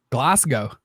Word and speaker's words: Glasgow: correct me but I'm pretty sure it's Glasgow wait Earl Meister well you should know how did how is it pronounced you live there um Glasgow there you go yeah yeah oh crushes